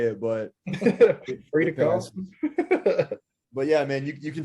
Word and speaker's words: Frida Karlsson: Well, I said it a little bit more Swedish, but if you were to say it here in America, that would be great.